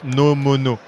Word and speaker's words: Nomono: Nomono. So it comes from the fact that this can record spatial audio. So there is no mono. Oh, it's no mono.